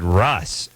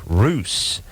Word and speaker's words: Russ: or I should say Roos, David Roos from Seattle. So he'll be coming in here as well. How does he spell his last name? Well, he spells it R-U-S-S, but it's pronounced Roos.